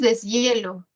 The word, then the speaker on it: deshielo: Tenemos deshielo. La sílaba tónica es ye, ¿no?